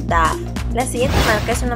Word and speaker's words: Dove: mayoría, en mi caso, lo solemos llamar Dove. Sin embargo, no se dice así. La palabra correcta es Dove.